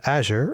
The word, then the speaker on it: Azure: And now, to me at least, to end the debate about this, we were talking to a Microsoft person who works with Azure and pronounced it Azure.